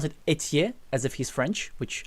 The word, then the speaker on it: Ethier: Justin, I was pronouncing Ether, but he's saying Ether, so I was pronouncing it wrong all the time.